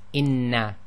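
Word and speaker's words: إنّ: So here we have a word which is inna. So this is equivalent to the hamza with the kasra followed by a noon sakin, which gives you the in, followed by a noon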